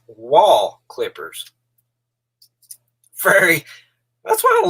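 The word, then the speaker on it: Wahl: a town those clippers are made in it's pronounced wall clippers fairy that's what i love about youtube you learned so much stuff wall clipper i always said whale i guess it's the eastern kentucky pronounced pronunciation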